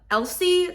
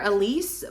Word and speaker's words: Elsie: was good Wild Love Elsie silver I always want to call her Elise but it's spelled e- LS i e that one was a